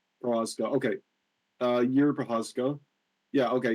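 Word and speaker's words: Procházka: Prohaska. Prohaska.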